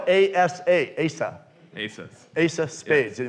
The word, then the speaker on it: Asa: But it's spelled A-S-A, Asa.